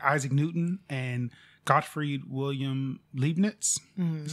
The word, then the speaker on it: Leibniz: In the 17th century, there were independent scientists that discovered calculus, like Isaac Newton and Gottfried Wilhelm Leibniz.